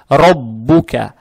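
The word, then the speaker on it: رَبُّكَ: Теперь буква ра с фатхой. Фатха приобретает оттенок о. Ра, ра, ра читается твердо. Далее буква ба удвоенная с даммой. Роббу, роббу. И далее стоит буква каф с фатхой. Роббука, роббука. Каф читается, произносится мягко. Так же как и фатха.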